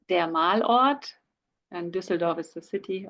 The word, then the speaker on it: Malort: So it's der Malort, and Düsseldorf is the city, obviously.